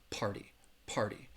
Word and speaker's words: party: but pronouncing this word many people in in British English you are going to hear that T sound but many Americans party party juh Tov asked how